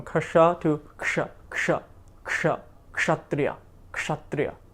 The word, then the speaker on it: kshatriya: So there will be a tendency to say kasha first, right? Kshatriya, kshatriya. Fine. But eventually we want to